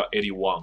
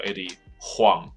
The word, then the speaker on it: Huang: 所以总之他的名字叫 Eddie Wong，不叫做 Eddie Huang， OK？